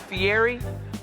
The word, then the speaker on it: Fieri: A lot of people call it Fieri, but the E, the R, and the I in Italian, you roll it, Fieri. So I just explain it to people, Fieri, easy.